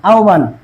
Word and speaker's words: আহ্বান: আহ্বান, আমরা বলি আহ্বান না, আহ্বান, এটা সঠিক উচ্চারণ কি, আহ্বান।